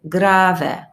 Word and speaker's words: grave: if i say grave this pronunciation are not the same than the english because it's italian so i say grave it means extremely slow